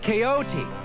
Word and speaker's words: Quixote: good book Jake called on quick sorry that's pronounced coyote I read that in